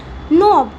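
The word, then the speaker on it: knob: Fine add adjustment नोब। के को नहीं पढ़ेंगे। क्यों नहीं पढ़ेंगे? बताओ जरा। साइलेंट। हां। एन से पहले के आएगा तो क्या होगा? साइलेंट।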